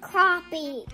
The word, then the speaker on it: crappie: It's pronounced crappie, Dad.